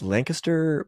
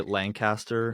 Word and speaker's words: Lancaster: Logan and Dakota, you guys are from, we just learned, it's Lancaster, Pennsylvania. Yeah. Is that correct? You pronounce it correct. Some people say Lancaster.